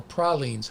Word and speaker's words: praline: All right, Dorothy Ultimus says get pralines or pralines. How do you pronounce it? I pronounce it praline. When you're in Georgia.